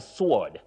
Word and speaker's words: sword: But when you have the second word for a weapon, many people talk of sword, but that W is silent. You say a sword. Sword. Not sword that we hear around us.